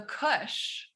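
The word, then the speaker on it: Kussh: kind of step oh called the kush which is spelled like marijuana except there's an extra s so it's like k-u-s-s-h and it's cushiony it's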